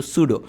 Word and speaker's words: pseudo: জিনিসটা পি দিয়ে শুরু হলো, এটার নাম কিন্তু সুডো, মানে উচ্চারণে সুডো, লিখতে গেলে হবে পি।